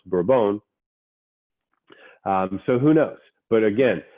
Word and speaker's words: Bourbon: revolutionary war is also spelled the same way pronounced bra-bone so who knows but again there wasn't a